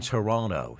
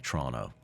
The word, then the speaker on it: Toronto: And I love how Canadians say Toronto. Yeah. And I say Toronto. The T is silent.